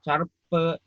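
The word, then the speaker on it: çarpı: Ya, ini cara bacanya, lihat ini. Di bawahnya ada arte, eksi, carpe, sama bolu.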